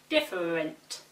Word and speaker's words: different: The same applies to the following words: every, different, interest, and extraordinary. Every, different, interest, extraordinary.